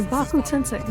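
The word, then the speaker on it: Shinra Tensei: And you can It's tell Shibaku Tensei, yes.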